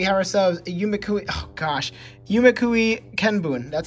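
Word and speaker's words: 夢喰見聞: And coming up next to that, we have ourselves Yumekui, oh gosh, Yumekui Kenbun, that's how you pronounce it.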